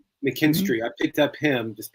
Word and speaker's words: McKinstry: I dropped him to pick up the um McKinley. Is that how you say it? Like the guy from Cleveland. Yeah, McKinstry. McKinstry.